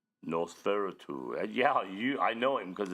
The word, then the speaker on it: Nosferatu: It's Nosferatu.